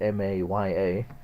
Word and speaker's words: Maya: The Buddhists, in Sanskrit, they spell it M-A-Y-A, and they say it Maya, or illusion.